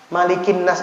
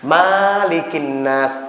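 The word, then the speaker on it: ملك الناس: dulu saya bacanya begini ternyata malikinnas itu bacaannya pendek dulu saya bacanya begini Bismillahirohmanirohim Qul a'udzu birabbinnas malikinnas salah itu itu sering kita dengar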